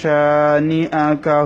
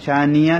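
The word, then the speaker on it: شانئ: ফাসল্লি লিরাব্বিকা ওয়ানহার ইন্না শানিআকা হুয়াল আবতার। ইন গুন্না হবে ওয়াজিব গুন্না, শাহ একালিফ টান হবে, নিআ হামজা একটু ধাক্কা হবে, তবে ইয়া যেন উচ্চারণ না হয়, শানিয়া যেন না হয়, শানিআ এভাবে।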